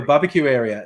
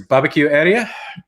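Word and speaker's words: Babakiueria: And they spell it in indigenous ways. It's like BABAKIUERA. So the country becomes known as Barbecue Area.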